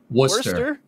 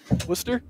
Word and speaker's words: Worcester: Lester that's hey Ryan Worster Worster now we're now we're just saying Worster what the heck did you Worcester Worcester wer Worcester wer it's wer wer Mass wait yeah why are